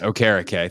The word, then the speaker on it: Okereke: Am I saying that correctly? Is that right? Yes, Okereke. Thanks, Mike Rico, for saying that properly on Sunday Night Football for me to know that that's how you say it.